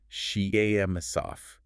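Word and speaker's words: Ченцов: In 1972, a Russian mathematician named Nikolai Chentsov, pronounced Chentsov, asked a really profound question.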